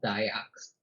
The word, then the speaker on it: Dayak: it's pronounced Dayak, but it's not as I don't think it's as westernized as I make it sound. Like it, Mhm. I definitely added an accent to it.